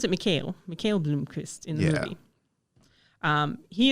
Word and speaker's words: Mikael: And they pronounce it Mikael Blomkvist in the movie.